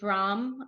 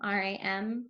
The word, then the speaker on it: Ram: You're supposed to be able to look at them and think those syllables. And of course, this whole entire symbol is representative of a vibration, which is Ram, R-A-M, Ram.